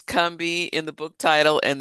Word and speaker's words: Combahee: But people from the region pronounce the name of the river the same. It's Kami. It's not Kahi or I hear I hear all kind of stuff.